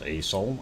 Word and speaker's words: Aso: and that is uh spelt aso and pronounced aeso and we don't see